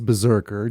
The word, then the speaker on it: BRZRKR: is the Keanu Reeves the spelled without the vowels Berserker just to set the